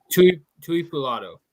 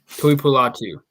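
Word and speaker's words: Tuipulotu: Is that really how you say it? No. Oh. Tui Pulato. There we go. Tui Pulatu. There you go.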